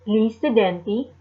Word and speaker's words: gli studenti: In this case, gli studenti, and the G is silent for plural of students.